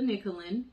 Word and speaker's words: Nicholen: students i am nicholen and that is pronounced like you would pronounce nickel and dime and i am the